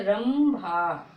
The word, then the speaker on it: रंभा: Okay, पा वर्ग के 4 अक्षर यदि अंग की मात्रा के बाद आए तो हम अंग की मात्रा को मां का उच्चारण निकालते हैं। ओके, इसी प्रकार से सारे अक्षर, जैसे रंभा, अंबर, ठीक है, रंभा, अंबर।